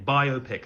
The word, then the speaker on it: biopic: Biopic. Think of it like rom-com.